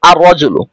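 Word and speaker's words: الرَّجُلُ: যুক্ত করি তাহলে হবে আর রজুলু তখন লাম হরফটি শুধুমাত্র লেখায় আসবে উচ্চারণে আসবে না তখন অর্থ হবে লোকটি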